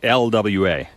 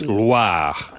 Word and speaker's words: Loire: It's not LWA. Oh. It's Loire.